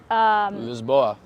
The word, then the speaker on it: Lisboa: His sister lives in, Lisboa. what? Lisboa is like they call it. Lisboa, yes. Lisboa. Lisboa. They don't actually say it like No, that. that's Spain.